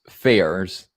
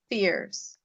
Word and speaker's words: fears: Yeah, for some reason, I can't pronounce fairs. Fairs is like something you're scared of, right? How do Hmm. you pronounce it as fairs, right? Fears. Fears.